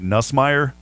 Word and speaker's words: Nussmeier: Doug, I've got to say his name right, Nussmeier, that is the quarterback's coach.